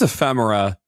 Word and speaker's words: Ephemera: I think it's Ephemera as in ephemeral. Yeah.